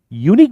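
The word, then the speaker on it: unique: लेकिन यूनिक बोलते वक्त हमारे मुंह में अ नहीं आता। यूनिक you Nick you यू यू you just a minute Y ओ यू वाला वाई आता है यू यू यू यू यू इस पे ध्यान दीजिए अ नहीं आएगा अगली का अ वही यू है लेकिन यूनिक का यू वाई है माय डियर स्टूडेंट्स धोखा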